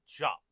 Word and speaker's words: Diop: It's Diop. It's Jop. Guarantee you that's how it's pronounced.